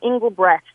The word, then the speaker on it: Engelbrecht: me i have been called worse it's Catherine Engelbrecht so you sort of concerted on the end